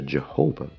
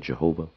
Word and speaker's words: Jehovah: they came up with Jehovah, as it's pronounced in English, so it's three syllables, but it was always two syllables. But then they became three.